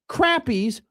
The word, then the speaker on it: crappie: And Husker Country goes, Matt, crappies are fish. It's pronounced crappies, okay?